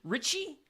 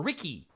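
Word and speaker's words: Ricci: her last name Christina is it Richie or Ricky Christina I'm gonna say Richie that's what I feel comfortable with uh from movies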